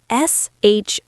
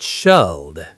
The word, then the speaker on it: should: S-H-O-U-L-D. Again, the L is silent. We say should, not shalled.